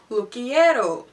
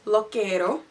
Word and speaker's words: Lookiero: look at all honestly it took me ages to get the pronunciation right because when I looked at it I thought it said lo quiero but it is called lo quiero so it is a